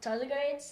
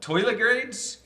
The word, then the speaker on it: tardigrades: So I'm like kind of obsessed with tardigrades. They're a microscopic creature that basically. is Say that kind of again. immortal. Toilet grades?